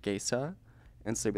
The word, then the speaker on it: Gaca: queer people but like my last name is pronounced gaysa and so be like